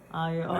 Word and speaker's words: aglio e olio: How do you pronounce it? Ali-olio. And how it tastes? Ali-olio.